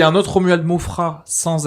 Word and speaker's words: Maufras: Romuald Mofras, t'as des trucs à Romuald plugger? Mofra, mais c'est vrai qu'il y a un S mais qui ne se prononce pas.